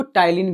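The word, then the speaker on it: ptyalin: टाइलीन की स्पेलिंग देखना। पी से शुरू होता है। ठीक है? पी से पी टी वाई ए एल आई एन तो जैसे ही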